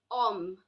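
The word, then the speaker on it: homme: fact there is a there are more words like om it means a man this will also be read as um so any word that starts with H sound is not to be produced starting with numbers now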